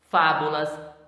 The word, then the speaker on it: fábulas: Fábulas, antepenúltima sílaba.